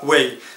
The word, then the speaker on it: Huawei: en fin de compte pour le prononcer c'est super simple hawei AINS et bien vous allez pouvoir demander ce smartphone à un vendeur très facilement en disant je voudrais un Huawei P8 et voilà ça